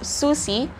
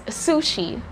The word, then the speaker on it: sushi: to emerge next word i've seen some video clips of japanese people pronouncing this word as susie if there are japanese speakers or if there are learners there who are studying japanese language correct me if i'm wrong but i think i'm hearing susie without an age but in english we're pronouncing or we're saying this word is sushi again that's sushi and